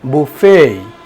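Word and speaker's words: buffet: বুফেই বিউ U double F ইটি এটার সঠিক উচ্চারণ হবে বুফেই আমরা এই ওয়ার্ডটা কিভাবে উচ্চারণ করে থাকি রেস্টুরেন্ট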